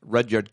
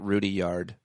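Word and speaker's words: Rudyard: good poem for men redyard Kipling is that how you say his name I used to say it Rudy yard and then and then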